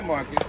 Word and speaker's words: Marcos: She said Marcos. I'm not ratting her out. She mispronounced it. No, they call me Marcus, but M-A-R-C-O-S.